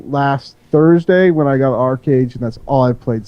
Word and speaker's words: ArcheAge: I played Diablo 3 a little bit, but I dropped the 150 on ArcheAge. Let's just get this straight. It's not ArcheAge, it's ArcheAge.